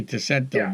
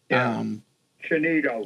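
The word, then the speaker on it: Tsienneto: Yeah, I think that's pronounced Chinito. Okay, Chinino then. Chinino. Yeah, it's got an odd pronunciation. Yes. It's spelled with a T-I-S. You almost want to say Ticento, but... Chinito.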